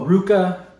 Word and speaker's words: RVCA: Oh, Ruka. It's spelled RVCA.